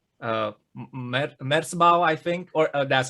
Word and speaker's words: Merzbow: mysterious in a way, because it was like Merzbau, I think, or that's how people Merzbow, yes. you have to pronounce it.